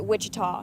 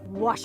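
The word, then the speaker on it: Ouachita: for wasita Baptist University back in Texas everybody pronounces it Witchita but really it's was wash wash how would you pronounce it it's was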